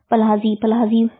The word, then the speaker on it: Pazhassi: पल्हाजी राजा है, केरल वर्मा पल्हाजी राजा के। इसमें इसकी स्पेलिंग है VARMAPAZHASSI राजा।